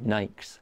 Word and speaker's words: Nike: And in Kenya, they pronounce Nike, Nikes.